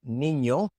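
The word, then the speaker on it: niño: And so for example in words like nino they say nino nino but it is not nino because that's not how you pronounce it.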